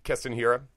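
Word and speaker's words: Keston Hiura: And am I saying his name wrong? Is it Keston Hira? Yeah, Keston Hira.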